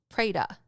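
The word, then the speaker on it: preta: means Hungry Ghost and it is pronounced praya so praya is quote unquote a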